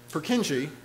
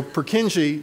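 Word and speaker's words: Purkyně: the second world war so um purkinje who's of course nobody in prague would pronounce his name that way his name is so purkinji described fingerprints he also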